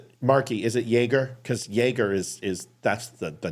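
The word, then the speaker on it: Jágr: favorite hockey player uh it's it's Jagger but could somebody say yogger if you're from checklist Sakia you could say Yer is that how yam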